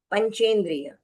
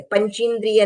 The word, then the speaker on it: पंचेंद्रिय: बीच में ए और द्व की मात्रा जो है वो दीर्घ है तो द्विद्रिय त्रेंद्रिय चतुरेंद्रिय पंचेंद्रिय इस तरह से पंच्द्रिय नहीं है पंचेंद्रिय है तो वैसे ही बोलना है लिखते समय भी हमको वैसे ही लिखना है।